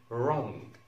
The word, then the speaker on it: wrong: حرف W في بداية الكلمة لو وجدنا WR لننطق ال W، WR لننطق ال W. أمثلة مشهورة زي كلمة wrong wrong wrong، ما نقولش wrong اسمها wrong.